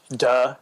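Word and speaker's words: 德: Duh. It's duh. actually pronounced duh, like no duh.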